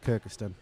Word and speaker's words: Kirkistown: No, Kirkistown, I think is how you probably Kirkistown would Castle. spell it. Everyone seems to call it Kirkistan.